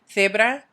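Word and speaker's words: cebra: Zebra. This is one of those where my crazy Castilian accent isn't going to help you out because guess what? I pronounce C's and Z's with a TH sound.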